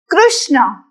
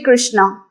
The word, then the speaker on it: Krishna: Point to be noted, in Gujarat, most of us say Krishna, like Jai Shri Krishna, Rushikesh javu chhe. But in Sanskrit, we will be very careful with this pronunciation. We will not say R-U, Ru, but it's a more of Ri.